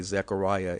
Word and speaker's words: Zechariah: of the prophet Zechariah, which I guess you would say Zechariah in English, but the real pronunciation of his name, as he was called, is Zechariah.